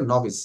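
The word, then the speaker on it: novice: করছে শিক্ষা নবিশ বাট এটা একটু ডিফারেন্ট নভিস উচ্চারণটা হবে নভিস মানে কাচা ওকে তারপরে এখন তাহলে সবাই একটু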